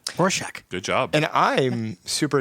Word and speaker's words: Rorschach: Toronto Ontario yes and now I figured out how to say it Ro shock good job and I'm